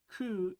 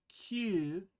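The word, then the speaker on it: 九: word for nine but C is also the word for suffering so a pronunciation of Q is usually preferred over C are you confused yet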